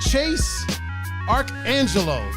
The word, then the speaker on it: Chase ArchAngelo: Chase ArchAngelo.